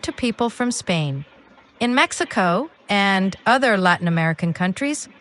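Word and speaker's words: México: In Spanish, it's pronounced Mexico with a softer H sound where the X is.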